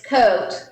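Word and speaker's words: Côte: It's actually it's coat. Oh, coat. Okay. And it is one. Yes, and it's hill in French.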